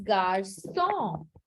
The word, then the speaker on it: garçon: So to make it sir, they add a cedilla. So the K becomes sir. And that's why the garcon becomes garçon with a cedilla.